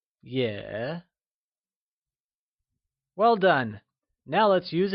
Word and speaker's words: 也: Also translates to yeah, and it is pronounced using a falling rising tone. Can you try and say yeah?